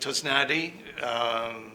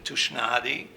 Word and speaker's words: Tusnady: Well, I pronounce it Tosnadi here. Originally in Hungary, we pronounce the S sound as an esh sound, so Tushnadi. But I had to change it slightly just so that it's easier for people here.